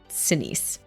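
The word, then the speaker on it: Sinise: I mean, I've never been to Vietnam, but And I just typed in how does Gary Senise pronounce his name? Senise.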